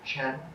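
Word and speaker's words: 真: The Chinese pronunciation of the character for essence, Ching, combined with the Chinese pronunciation of the character for real, Chen, Ching, Chen.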